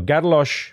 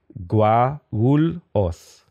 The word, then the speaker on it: Guarulhos: I remember it was like Garlosh, or Gadalos. No, Gadalos with the sh was like the Rio de Janeiro way to say it. And then Guarulhos was like how to say it in Guarulhos.